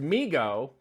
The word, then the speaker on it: Mego: those figures in overwhelming mego pronounced migo great thanks for putting that there and i should have read it first it's amigo i'm gonna that's my